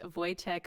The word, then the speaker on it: Wojtek: I'm your host Michelle Lynn and today I'm very happy to have my new friend Voytech on.